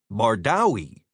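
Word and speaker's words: Bardowie: B A R D O W I E equals bardawi rhymes with howie.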